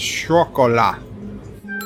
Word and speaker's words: chocolat: that by the way CH in French is pronounced like SH in English says Luke so it's Chocolat kind of I did unmute